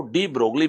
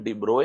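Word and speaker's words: de Broglie: ये डी ब्रोए या फिर उनको डी ब्रोगली भी आप बोल सकते हैं, एग्जैक्ट प्रोनाउंसिएशन डी ब्रोए है, बट आप उनको डी ब्रोगली बोल सकते हैं, ठीक है ना।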